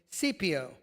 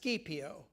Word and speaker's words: Scipio: To prevent this, the Romans commissioned a young naval commander named Scipio to take the fleet of Roman warships and go after Syri- the Syrian vessels. It this may be pronounced Skippio.